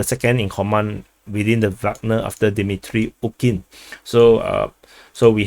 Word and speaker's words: Wagner: No, I like to call them Wagner because that I read it in English, but I know the proper pronunciation is actually Wagner. So former members of the Wagner PMC, and the convoy